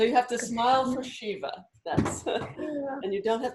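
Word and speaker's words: शिव: while it doesn't as long as you don't pronounce it sa that's fine but um but one um for example um Shiva is this and Krishna as we saw is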